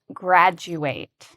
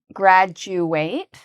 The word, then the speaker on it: graduate: So after someone finishes school, they graduate. So this is the spelling of the word graduate. And I want you to pay careful attention to the pronunciation because the du actually has a ju sound.